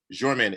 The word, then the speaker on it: Jermaine: here and jermaine is pronounced with a kind of like j sound correct yep yep that's